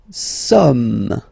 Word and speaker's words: sommes: Nous sommes, okay. Nous sommes, okay. So you don't pronounce the final S here, it doesn't exist.